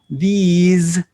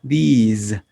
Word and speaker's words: these: Miren que la diferencia en la pronunciación es en realidad notable. This es corta y these es larga. Este no vibra, this, y esta S sí vibra, these.